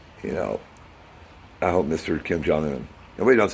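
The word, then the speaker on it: Kim Jong-un: Kim jong-eun nobody knows how to say his name it's kim jeong-hoon Obie's okay it's bossy not about you it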